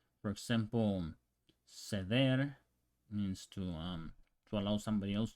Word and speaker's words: ceder: an I, for example, ceder means to allow somebody else to do it. So you would pronounce it, would be a C and an E. In Spanish from Spain would be ceder, ceder.